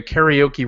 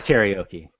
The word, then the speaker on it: karaoke: it's karaoke when I say it. It's the American pronunciation is karaoke.